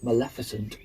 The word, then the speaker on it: Maleficent: Um, the classic modern example would be Maleficent, um, and I pronounced it right that time.